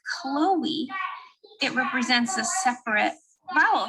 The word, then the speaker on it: Chloe: a separate vowel sound so here i have chloe the o represents o the e maintains a unique sound so this diuresis helps to signify that the e is pronounced in the word chloe in the word naive